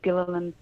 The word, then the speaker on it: Gilliland: the interview from james gilliland or Gillan he pronounces it with two syllables a three Gilliland Gilliland I don't know I heard